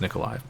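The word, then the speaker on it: Mykolaiv: uh i know it's written mikaleiv but it's pronounced nikolai uh so in any case uh her mother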